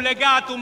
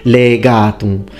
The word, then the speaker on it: legatum: As Look in his video points out, in this part, excellently pronounced, the only thing, legatum. So we need the e longer. Its phonemic vowel length is very important in Latin.